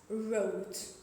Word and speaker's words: wrote: So whenever we see the letter W before the letter R, we don't pronounce W.